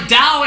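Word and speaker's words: Tao: Dao the word that's spelled like ta but pronounced like Dao except by people that know absolutely nothing about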